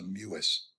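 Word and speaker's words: Mewis: Here's something, I believe it's pronounced a Muis.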